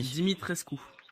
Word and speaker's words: Dimitrescu: Comment prononcer On son, lance son nom de famille à Vlad? Dimi. Dimitrescu.